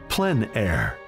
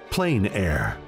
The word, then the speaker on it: plein air: which means open air or Outdoors the French pronounce it plan air others say plain air no matter how you say it there is